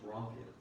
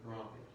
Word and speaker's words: rhomphaia: It's actually pronounced Rompia. Romphaia? Rompia.